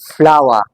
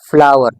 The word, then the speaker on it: flower: लेकिन जब आप ब्रिटिश इंग्लिश से हटकर अमेरिकन इश की बात करेंगे तो वहां पे इस आर को आपने स्ट्रांगली प्रोनाउंस करना है। तो इसका मतलब ये हो गया आप इसको बोलेंगे फ्लावर। फ्लावर फ्लावर ओके इसका मतलब ये हो गया के आर जो है ना इसको हम स्ट्रांगली प्रोनाउंस करते हैं। अमेरिकन इंग्लिश में आर is strongly pronounced in American English. In American English in American absents.